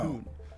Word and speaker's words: Toon: This nickname comes from the Geordie pronunciation of the word town being Oh. Toon.